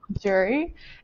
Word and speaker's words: Jure: know about me is how to actually say my name. So, my name is Jury, and it comes from the first two letters of my parents' name.